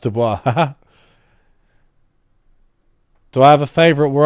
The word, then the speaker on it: Du Bois: It's actually pronounced Du Bois.